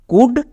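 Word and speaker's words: could: আমরা যদি OU দেখতে পাই আউ করব, কিন্তু এই দুটো ওয়ার্ডকে স্পেশালি মনে রাখবা, কুড, শুড। আরেকটি ওয়ার্ড দেখো উড, এখানেও আমাদের OU হস্যকার সাউন্ড দেবে, সো এই শব্দের উচ্চারণটা হবে উড এবং এখানে এল সাইলেন্ট।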